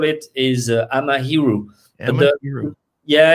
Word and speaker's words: Amahiru: myself from france and so if you want to pronounce it or write it in a japanese way it would become amahiru okay and i said